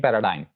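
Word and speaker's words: paradigm: एक और रूल जी का ये है कि जी इज not pronounced before M, यानी जी एम से पहले भी प्रोनाउंस नहीं किया जाता, वो साइलेंट होता है। मिसाल के तौर पर डायफ्राम, फ्लैम एंड पैराडाइम। तो यहां पे जी will be silent because it is coming before M.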